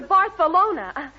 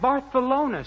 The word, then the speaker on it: Barcelona: mean I mean to barthelona that's where he wants to go where did you get that barthelona stuff because in Spanish the CE is always pronounced as s oh it's that so